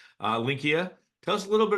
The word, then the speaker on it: Linqia: It's kind of like, I got to think Expedia in the back of my head with the IA at the end. Linqia. Tell us a little bit about Linqia because this is new for our community.